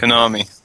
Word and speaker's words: Konami: Konami.